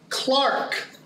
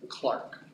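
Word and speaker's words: Clerk: grow a beard James Clark Maxwell I know I know I know how it's spelled okay but I'm using the correct pronunciation he was scotish right and in Scotland you pronounce that word Clark okay so James Maxwell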